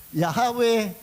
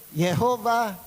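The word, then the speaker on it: Yahweh: Merong Yahawa, Yahawe, Jehova, Yahova. Iba-iba. At sabi nung mga modern theologians ang pinakamalapit yung Yahwe so whatever kung anoang pronunciation, hindi after ang Diyos sa pronunciation.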